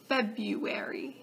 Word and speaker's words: February: on anemone February it's not February it's February febuary choir Astrix Astrix brewery brewery brewery explicit explicit